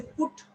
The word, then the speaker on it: put: a long sound here when i say put 2 so this is short this is long then let's go to